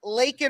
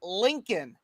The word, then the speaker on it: Laken: It says, say her name, Laken Riley. And he still can't say Lincoln.